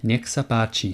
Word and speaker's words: nech sa páči: I have a way to remember this one as well. You might find this useful. Think of necks, as in more than one neck, and then the Native American warriors, Apache. Necks, Apache.